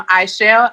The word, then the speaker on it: Aichelle: Sometimes it's spelled MGMT, but it's still Aisharai Artist Management. And I am Aichelle, AICHELLE, everywhere.